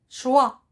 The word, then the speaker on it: choix: prévient ensuite le mot choix le choix retire rien le verbe choisir il se termine par la lettre miettes x le choix répétés le